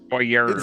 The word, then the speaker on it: foyer: That's how I thought that was how you say it if you're French. No, it's a French word. You're supposed to say it like that.